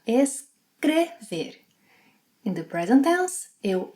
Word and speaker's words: escrever: A similar pronunciation pattern happens with the letter E. For example, escrever, to write. In the infinitive, it has a closed E sound, escrever.